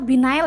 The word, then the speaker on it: Biennale: Binale atau Binail ya Kak? Aku tuh agak susah dibacanya. Yang Biennale Jogja, Biennale. Binale, oke.